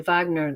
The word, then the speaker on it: Wagner: Thank you for pronouncing the in the true Germanic form Wagner.